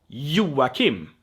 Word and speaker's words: Joachim: say in Swedish, and it's pronounced like an English Y. Y. It's this half vowel that is half I, half I don't know, right? So Y, like my name, Joachim, right?